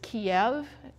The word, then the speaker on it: Kiev: similarly the capital russia the russian pronunciation is kiev as in chicken kiev the ukrainian pronunciation is